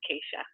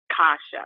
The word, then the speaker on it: Keisha: Yeah, Keisha. Keisha. Okay, great. And people call you Kasha or Tasha as well? What was the other name? Kasha. Like sometimes they pronounce it Kasha.